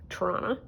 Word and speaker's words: Toronto: Toronto, which is how you say it if you're from here.